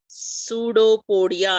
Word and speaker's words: pseudopodia: with the assistance of pseudopodia isd essence this is pronunciation is also very important dear strengths okay so this this is actually pseudo podia yes so actually um